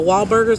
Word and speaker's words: Wahlburgers: The Wahlburgers, like Mark Wahlberg, is how, that's how you pronounce it.